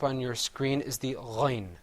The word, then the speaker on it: غين: letter coming up on your screen is the Ghain sound. And you see the difference between the Ghain and the Ain is that the Ghain has a dot on top of it. So let's say Ghain. Ghain.